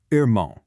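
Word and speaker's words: irmão: In a lot of Brazilian dialects, that R is actually pronounced from the back of the throat, almost like an English H.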